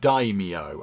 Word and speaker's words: daimyo: Apparently that is pronounced daimyo.